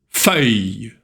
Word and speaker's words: feuille: Les feuilles mortes se ramassent à la pelle. Тут два замечания. Первое. Feuille. Слово feuille очень сложно для многих учеников. «ю» читается «и», «л» читается «й», «с» не читается.